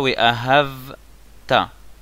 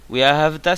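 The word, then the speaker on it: ואהבת: On dit pas We Ahavta. Sinon, on change le sens du mot. We Ahavta, ça veut dire tu aimeras.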